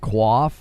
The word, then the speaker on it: coif: Coif is pronounced quaff.